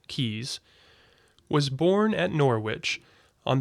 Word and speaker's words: Caius: the latinized form Caius which retains nevertheless the pronunciation derived from the English original keys was born at Norwich